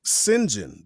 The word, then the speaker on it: St John: And then he came across a word because they had titles at the bottom, and the person's name was Sinjin, but it's spelled Saint John.